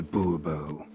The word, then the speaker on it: Bubo: monsieur de Bobo fine Monsieur de Bubo the emphasis falls on the last syllable Bobo mm-hmm see now